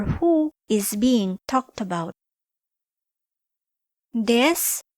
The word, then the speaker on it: です: Des, pronounced as des, is a copula that is used to link a noun or adjective to a subject.